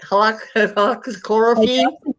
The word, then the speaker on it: hydroxychloroquine: Hydroxychloroquine. Chloroquine. Hydroxychloroquine.